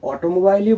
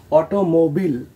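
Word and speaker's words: automobile: এবং আমাদের শেষ ওয়ার্ডটি হলো, এটাকে আমরা সবাই অটোমোবাইলই বলে আসছি, কিন্তু এটার সঠিক উচ্চারণ হলো অটোমোবিল, অটোমোবিল।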